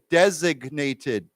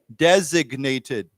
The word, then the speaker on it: designated: the word design because here we don't pronounce a g but this word we pronounce the G there's a g sound so let's say together designated designated okay so there was